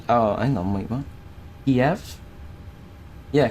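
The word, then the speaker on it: Kyiv: Keyf. Yeah, Kiev. Oh, hang on. No, the Kiev is the Russian pronunciation thing. Okay. So it's key if key if um what's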